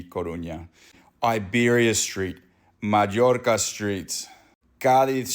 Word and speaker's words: Coruña: Corona Road, I guarantee you they pronounce this Corona Road, and it's meant to be Coruña.